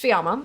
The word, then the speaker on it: Fiamma: So obviously, like, so my name is Fiamma. For those of you who are relatively new here, it's pronounced Fiamma. It's Italian.